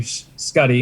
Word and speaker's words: Schutte: and did i get your last name right uh it's pronounced several different ways we would commonly do scotty but um i answered to everything okay it's